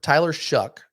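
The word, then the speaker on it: Tyler Shough: guy that we're looking at here is Ty Tyler shuck that's how you say his name uh Tyler shuck from Texas Tech now Tyler was originally at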